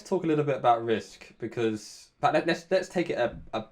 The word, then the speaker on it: Rizq: founders and CEO at Rizq. Am I pronouncing that right? Yeah, Rizq. Rizq.